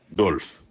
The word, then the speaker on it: Dolphe: Dolf s'écrit D O L P. Alexis Dolphe. Alexis qui dit ça ? Dolf. D O L P H Dolphe.